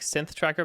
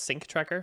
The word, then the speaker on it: sync tracker: Probably sounded like synth tracker, but it's sync tracker for synchronization.